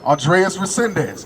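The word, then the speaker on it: Andrés Reséndez: I can't really pronounce it. Andres Resendez. There you go, Andres Resendez.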